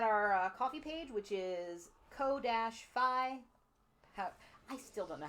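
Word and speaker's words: Ko-fi: I want to pronounce it Kofi, like Kofi Kingston. I know you do, but it's I'm probably 90% coffee sure because it's you're coffee buying a coffee. You're buying people a cup of coffee.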